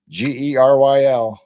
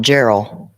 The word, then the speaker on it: Geryl: Geryl. And it's Carol, not Gerald. Yep, it's a hard G.